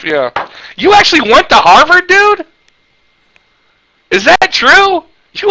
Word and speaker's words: Harvard: money for that degree if you went to Harvard hot it's pronounced by the way it's pronounced hot anyway Gomer sir Supply